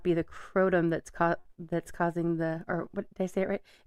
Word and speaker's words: kratom: It's like crotum. I don't know, but it is kratom. Kratom is the way it's supposed to be pronounced.